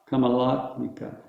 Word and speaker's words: Kamala: last okay um so it's not kamala nikka which is nice i like that but it's kamala come a lot come a lot so there's only one emphasis and it's not on the end which is very it's different from all the rest it only has one long a and that's the the middle one la so kamala mika